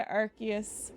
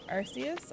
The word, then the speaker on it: Arceus: You say Arceus, I say Archius. I think, I could be wrong. I do think that the way I do think that the way that Pokémon wants it to be pronounced is Archius. I'm pretty sure that's been official, but but That's true, Chris.